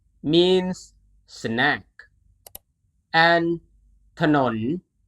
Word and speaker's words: ถนน: If the leading consonant appears in the second syllable, the first syllable is always pronounced with the vowel a, and it is hidden.